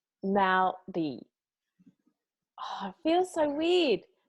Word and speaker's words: Māori: Roll the R, make it sound like a D. Maori.